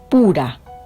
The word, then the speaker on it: Fura: fuera con su criado el criado se llama fura en hebreos se pronuncia pura y dice el 11